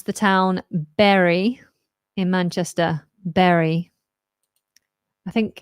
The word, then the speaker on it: Bury: you pronounce the town Berry in Manchester Berry I think in the north someone say buy bury I say berry berry like a berry like a blueberry Berry um congratulations con